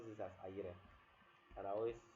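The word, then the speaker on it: Ayire: i know his spell is a-y-i-r-e and he pronounces this as ayere and i always say that anytime he pronounces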